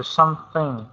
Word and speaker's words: something: Really make sure you get that TH sound, so something. Thing. Do not say something, say something, okay?